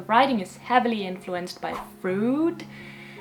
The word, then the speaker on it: Freud: And the writing is heavily influenced by Freud, I'm gonna call him Freud because he's Austrian and this is the correct pronunciation anyway, so suck it up.